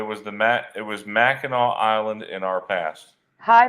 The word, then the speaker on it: Mackinac: you're right it's not pronounced that way it's pronounced Mackinac yeah Karen has a dual memory of the